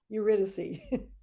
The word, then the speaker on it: Eurydice: Well, let's hear what happens with Orpheus and I'm going to say it again, Eurydice. Eurydice. You did a good job. You can go on YouTube and learn how to pronounce these things.